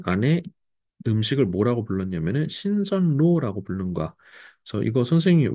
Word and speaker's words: 신선로: 안에 음식을 뭐라고 불렀냐 신선로 불르는 거야 그래서 이거 선생님이 왜 여기 n이 없어요 그럴 수 있는데 우리 신선로 하더라도 발음이 신설로 발음을 하게 되는 거야 그래서 발음 기준으로 요렇게